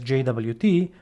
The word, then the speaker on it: JWT: I like to pronounce it as JWT, but you will also hear this weird name out there called Jot for JSON web token.